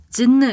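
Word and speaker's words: Gênes: 도시의 프랑스식 이름인 거죠 그러니까 진아 이거는 이탈리아 어고 진느 이거는 프랑스어인 거죠 이렇게 서로 비슷하게 발음은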